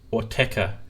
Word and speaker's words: Autechre: they're from the UK I'm not sure if I'm pronouncing or tech or I think it's what TECA I think that's how you say it yeah well TECA so